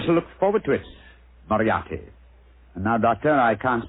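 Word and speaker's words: Moriarty: o r i a r r t y mariati mariati I shall remember that name I have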